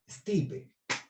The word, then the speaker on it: stipe: Se pronuncia lo mismo en inglés, y en inglés se escribe lo mismo, solo que le quitas la letra E. Stipe.